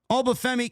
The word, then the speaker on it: Oba Femi: Just in case you didn't know how to pronounce his name, Oba Femi came into WWE like he owns the joint, which he doesn't.